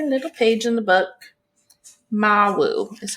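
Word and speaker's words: Mawu: go to her little page in the book Mau is how you pronounce it okay about Mau she's a West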